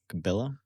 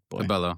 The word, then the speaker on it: Cabello: Um Camil Kama, I'm saying it wrong. Saying it so wrong. Camila Kabo Cabillo. Cabello. Yeah. Cabello. Thank you.